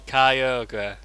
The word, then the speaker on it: Kyogre: the one the spared for ahead which one Kyogre Kyogre yeah k-y-o-g-r-e Kyogre I think of them despair for a head